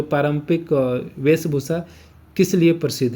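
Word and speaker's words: prairie: तो उसको कहा जाता है पेरिस। ठीक है? पेरिस नहीं होता है। इसको क्या पेरिस बोलते हैं। प्रिस यानी स्पेलिंग क्या होगा?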